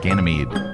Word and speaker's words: Ganymede: Uh, pronounce uh Ganymede. Ganymede.